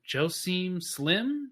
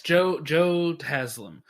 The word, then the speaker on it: Joe Taslim: until basically today was uh i i will mispronounce his name joe seem slim something like that um who's one of the main guys um okay yes joe taslim uh like a couple other uh there's a